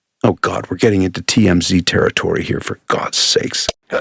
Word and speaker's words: TMZ: Oh god we're getting into TMZ territory here for god's sakes. TM zed. Oh thanks pie. Keeping the pronunciation Canadian.